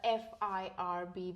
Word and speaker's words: FIRB: Next topic is the FIRB, which is the Foreign Investment Revenue Board.